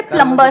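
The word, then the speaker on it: plumber: सर जैसे प्लम्बर, करते हैं। सब लोग प्लम्बर बोलते हैं हमारे देश में, बढ़िया है यार, क्या दिक्कत है? बी साइलेंट तो है उसमें प्लम्बर ही भी।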